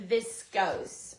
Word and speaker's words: viscose: Or if it's pronounced phonetically, which it may not be, V-I-S-C-O-S-C, it would have a long O and a silent E. Now, if it was viscose, I would interpret it to be V-I-S-C-O-S-S or V-I-S-C-O-S.